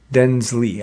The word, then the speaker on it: Denizli: that was unearthed in Turkey, in Denizli, Denizli, Denizli, I believe it's pronounced.